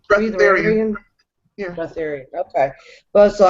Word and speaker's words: Breatharian: Breatharian? Breatharian.